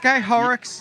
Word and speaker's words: Guy Horrocks: Guy Horrocks?